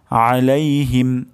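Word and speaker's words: عَلَيْهِمْ: শব্দটি হলো আলাইহিম আলাইহিম আইন গলার মাঝখান থেকে উচ্চারণ হবে আলাইহিম এবং শেষ শব্দটি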